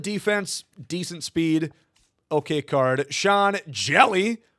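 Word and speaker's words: Sean Hjelle: Sean Jelly. The H is silent sinker cutter combo with the knuckle curve.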